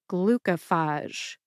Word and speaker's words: glucophage: the written pronunciation but I personally stress the first and third syllables most that would be glue and glucophage glucophage there you have